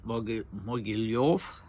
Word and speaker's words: Mogilev: And the new Stavka is in Mogilev, I think it's pronounced, in Belarus, as was the previous headquarters, Baranovichi.